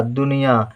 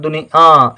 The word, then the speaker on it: दुनिया: में आ की मात्रा दुनिया यहां पर उच्चारण दुनिया इस तरह होता है लेकिन यहां कोई बिंदु नहीं लिखी जाती है ठीक है या के